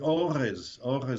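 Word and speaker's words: אורז: The word orez, I put a little apostrophe there to represent the aleph because the first letter is silent.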